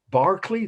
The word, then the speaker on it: Berkeley: Berkeley? That's how they pronounce Berkeley in England.